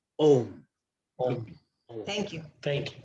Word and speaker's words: Om: We are so used to using the word home that home is Havan. Havan is a ritual. Om does not have her. It is our wrong pronunciation. It is Om.